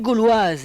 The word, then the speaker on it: Gauloises: il faut leur expliquer comment ça se prononce gauloise vous voyez sur en haut à droite c'est comme un Gaal de football et puis wise mais le plus beau